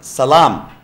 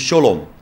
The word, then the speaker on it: salam: say you look look salam is arabic word it means peace salam so the same same words hebrew they pronounce this in their language it is shalom in arabic it is arabic it is salam so in the uh